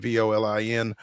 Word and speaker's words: Volin: You can follow him on Twitter at Ben Volen, Volin. Am I pronouncing that correct? It's not Volin or anything like that. Okay, great. No, I say it rhymes with stolen, so you got it right.